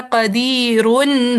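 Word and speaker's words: قدير: मैंने कहा कदीरुन हुआ। तो ये हमने इसका नून पढ़ा। कदीन पढ़े हम नून साकिन? जी पढ़ा है। लेकिन अगर मैं इसी कदीर पर वफ कर दूं तो क्या प्रोनाउंसिएशन बनेगी? कदीर कदीर क्या मैंने नून साकिन पढ़ा?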